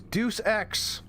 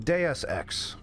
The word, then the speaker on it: Deus Ex: This is Deuce X. Wait, I'm sorry. I'm getting word. It's actually pronounced DeSx.